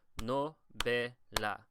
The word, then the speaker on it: novela: So it's novela. So the be is the second to last syllable, and that is where we typically put the stress in Spanish. So you would say novela, right? Novela.